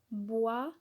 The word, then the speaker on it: bois: Bois, B-O-I-S, bois. On ne prononce pas le S.